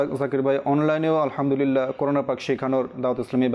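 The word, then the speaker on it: الحمد لله: বলার চেষ্টা করি এখানে যখন কোন দোয়াতে বড় হা চলে আসে তো এখানে ভুল এভাবে হয়ে থাকে কেউ গোল হা এটা অনেকে উচ্চারণ করে অনেকে আলহামদুলিল্লাহ এভাবে পাঠ করে থাকে যেটা ভুল তো আমাদেরকে হাটা রয়েছে বড় হাত্তি বলা হয় তো ওই হা দিয়ে আলহামদুলিল্লাহি আমরা পাঠ করব তো এখানে কিছু টানও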